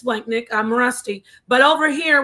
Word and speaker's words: splanchnic: Splanchnick, and I believe Splanchnick, let me look it up, but I believe it means visceral, like the guts, right?